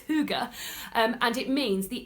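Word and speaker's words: hygge: h y g g which for a long time I was saying higy but it's Huga um and it means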